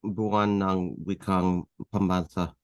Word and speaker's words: Buwan ng Wikang Pambansa: Wang Wakang Pambansa, I think. Am I saying that right, Randy? It's Buwan ng Wikang Pambansa.